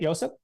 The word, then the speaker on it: Josip: And that's how we say it, Josip? Yeah, that's how he wants us to say his name, is Josip.